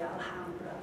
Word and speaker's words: Alhambra: um spanish of course has a letter h but you don't pronounce it you just ignore it so you say lots of english people say alhambra wrote down um now